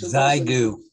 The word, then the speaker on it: Xiegu: And one of our former members, Zygu. Yes, that's one of the ways people pronounce it, is Zygu.